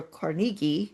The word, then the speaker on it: Carnegie: This strategy was expressed aptly by Andrew Carnegie, or Carnegie, some people pronounce it that way, in his book Triumphant Democracy.